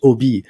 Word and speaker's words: Obey: But so because I think on your website it you you you actually wrote it's pronounced OB.